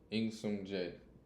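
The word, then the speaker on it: Im Sung-jae: I literally went to Google and asked how to pronounce it and then wrote the pronunciation down. In Sung Jae. It just feels so wrong.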